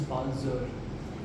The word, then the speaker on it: Palzer: So it is pronounced as Palzer.